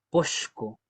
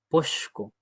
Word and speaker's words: posko: Co tenemos este sonido nuevamente. Ya. Y aquí el Piñimet nos escribió em podco, porque esa es la versión más antigua de la palabra.